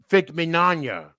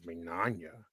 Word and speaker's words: Mignogna: And 2, why did you screw over Vic Mignogna? And then she said, well, first off, you said his last name wrong as Mignogna.